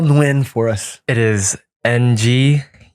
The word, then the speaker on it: Nguyen: It is Nguyen. Doesn't sound like it, but How Nguyen. often do people mispronounce it? all the time. What do they say? They say Nguyen, Nagayan.